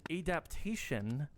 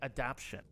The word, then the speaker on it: adaptation: Apparently, I would say apparently I would always anytime I would say that word, I would say adaption.